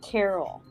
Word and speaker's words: Carl: Rick used to pronounce his name Carol. Chuck knows. LOL. Carl and Carol. Oh, Carl. Oh, she's saying that when he'd call his son Carl, he would say Carl, because he was Southern, I guess.